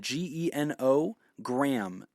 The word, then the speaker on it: genogram: But type it in, G-E-N-O, gram, G-R-A-M. That's how you spell it.